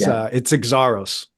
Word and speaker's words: Xaros: It's Greek. Yeah. And it's Xaros. Xaros.